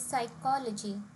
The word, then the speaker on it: psychology: For example, if we say psychology, it would be a bit difficult for native speakers to understand because the word stress here is not correct. The right way of saying this is psychology.